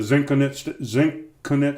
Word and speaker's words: Zenconut: yeah, so I called it the Zenconut Stout. Is that how you say it? Zenconut. I don't know. Because it's brewed in the Zen Garden, and it's a coconut Imperial Stout.